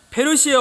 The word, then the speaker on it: 페르시아: 성전을 건축하라 하셨나니 아멘 바사라는 말을 한국 이제 할아버님들께 번역할 때 바사라고 번역했지만 본래 발음은 페르시아입니다 페르시아 왕 고레스가 하나님께서 그